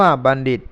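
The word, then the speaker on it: ปณฺฑิโต: ตี ย่อม พัด ไป ปณฑิโต อ่าน ว่า บัณฑิต นุ ทัศน์ อิ อิ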